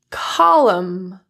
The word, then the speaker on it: column: When you see M, N consonants together, you can drop the N altogether. Here are some examples. Autumn, column, condemn, dam, solemn, and hymn.